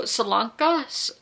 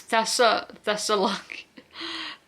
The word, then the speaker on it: Thessaloniki: And so Salanka, that's not how you say it, is it?